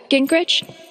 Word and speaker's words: Gingrich: Gingrich?